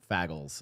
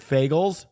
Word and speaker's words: Fagles: Okay, I'm not trying to say a slur, but I literally think his name is pronounced Fagles.